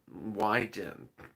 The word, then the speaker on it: Wyden: something like it's not pronounced that way uh wyden wyden i was making winden why why didn't why ten uh win win wyden wyden w-y-d-e-n-y-din ron wyden the chairman of the senate